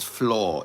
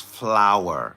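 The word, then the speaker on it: flour: You You make You bake bread with floor. It's not floor. It's flower.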